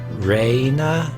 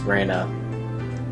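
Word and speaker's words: Rena: I okay hold on so it's raina versus Rayna and it's pronounced Rayna and apparently this has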